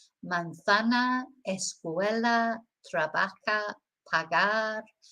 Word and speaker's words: pagar: So we don't say casa or pagar. You know, we've got to remember, you've got to think of the northern way of pronouncing things, which is the short, I call it the short A. So it's like, as I say, glass instead of glass, grass instead of grass, etc. So remember, short A.